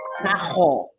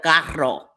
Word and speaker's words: carro: Like a lot of Puerto Ricans from Puerto Rico say cajo instead of carro, right?